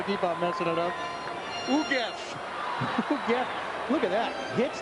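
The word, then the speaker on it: Ugueth: How do you pronounce that first name? I keep on messing it up. Ugev.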